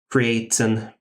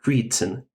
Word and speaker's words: Creighton: Altenburg, Bellflower, Pennsburg, Newburgh, Creighton. Yeah, it's going to be pronounced not Creighton, Creighton. So let's stick with Creighton.